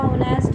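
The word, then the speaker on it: honest: इसी तरह आपका ऑनेस्ट आ गया, ऑनेस्ट के साथ भी एन का यूज़ करेंगे क्योंकि एच हमारा साइलेंट मोड में रहता है, ठीक है।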